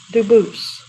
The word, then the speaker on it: Dubus: pronounce it Dubus, but you said you pronounce it Dubus, as the original Dubus, as the original French. Yep. Very well, Dubus.